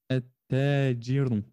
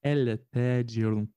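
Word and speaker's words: التاجر: On dira e, at-tajirun, mais on ne dira pas el-tajirun. On va doubler le ta, on va insister sur le ta pour en fait effacer le lem.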